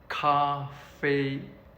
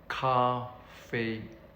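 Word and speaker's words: 咖啡: So the word for tea is pronounced cha cha. And for coffee it's cafe cafe.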